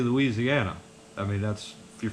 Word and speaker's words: Louisiana: thinking about him he don't whenever i'd say louisiana i mean that's if you're from the north most of that's how we say it louisiana he said i just it just kills me